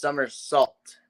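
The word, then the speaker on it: Summersalt: we recommend checking out somersault not some it's Summer's salt that's pronounced that we've tried the brand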